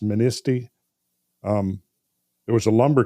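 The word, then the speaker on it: Manistee: across lake michigan uh is it ministy i believe is how it's pronounced ministy um there was a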